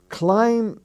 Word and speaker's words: climb: bombing the town uh the word climb the B is not sounded but climb he climbed the bee is not sounded either climbing the bee is